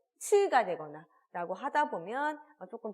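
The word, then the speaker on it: つ: 이 치라고 하는 그리고 츠, 치아 사이로 이렇게 숨이 강하게 이렇게 뱉어져야 하는 발음이기 때문에 확실하게 뱉으시면서 따라해 주시면 될 것 같아요.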